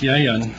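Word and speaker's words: יין: Now, Old Testament wine was called, it's pronounced yayin, Y-A-Y-I-N, if I'm pronouncing it correctly.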